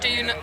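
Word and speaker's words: Doune: We're playing Back Dune the Rabbit Hole. Okay. And it's said It's spelt like that.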